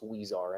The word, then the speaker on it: Huizar: Elias, and I believe the last name is pronounced Huizar, and I stand willing to be corrected if anybody wants to correct me on that. I believe it's Huizar.